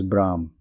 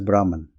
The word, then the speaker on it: Brahman: to the vidc philosophy it is known as Brahm commonly spelled as Brahman I prefer Brahm since it is closer to its actual pronunciation in Sanskrit everything else revolves around